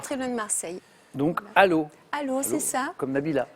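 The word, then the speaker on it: Allauch: Aquila, par exemple, ça s'écrit Alloche, A2L-A-U-C-H, mais ça se prononce Allo.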